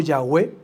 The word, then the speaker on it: Yahweh: Aparece 6,823 veces este nombre, y en su forma literal, quizás se pronuncie Yahvé o Yahweh, que se deriva estrechamente del verbo en hebreo ser.